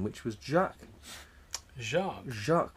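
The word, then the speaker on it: Jacques: initially called the Union Jack which highlighted his preference for the French pronunciation of his name which was Jack Jac Jac which is the French pronunciation of James what um so that's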